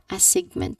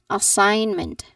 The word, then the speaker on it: assignment: So everyone in this word assignment there is a silent G sound. So the G in the middle is not pronounced. So we say it as assignment. Assignment. So like sign not sing sig sign.